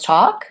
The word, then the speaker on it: chalk: walk and walk so same thing with chalk it's got the same vowel it rhymes with walk and we don't say the L sound perhaps if I didn't